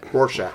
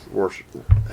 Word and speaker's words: Rorschach: Rorschach. Rorschach.